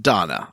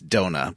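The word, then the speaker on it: Dona: the youth league uh but oh it is pronounced donna i always think it's donut but it's dog yeah like they say it no it's because of the way the guy says it don't know yeah so donna does not want to get involved in the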